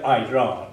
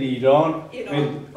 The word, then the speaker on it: Iran: går vidare de andra vi heter eller vårt land heter inte Iran utan det heter Iran på Engel är nå annat heter Iran på engelska Ja det det ska uttalas så okej om om det är någonting från Sverige och enbart från Sverige så svenskt uttal ska gälla och det är samma sak för Iran det heter Iran inte utmärkt Vi ska inte amerikaniserat a utmärk tack Okej